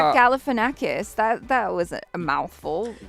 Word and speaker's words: Galifianakis: you're chewing tell but you could say zach galifianakis and just have no problems i've been messing